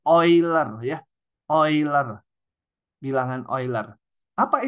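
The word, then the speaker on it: Euler: 1 itu dinamakan bilangan e ular Bacanya jangan gitu Ini nama orang yang udah meninggal bacanya ini oiler ya oiler bilangan oiler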